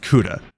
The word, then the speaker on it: Ceuta: I think it's pronounced Ceuta.